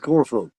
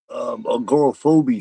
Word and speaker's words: agoraphobe: Because the first person that said that called me agoraphobia 73. A And, phobia. and I told him, I said, the E is silent, man. It's phobe as in lobe, and he was like, oh, so you don't say the E.